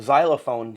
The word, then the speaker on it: xylophone: Xylophone starts with an X. Right. But it's pronounced Z.